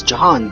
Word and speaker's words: Jahan: The other being Jehan, pronounced as Jahan by the way, which I already featured a couple or so times in my past vids.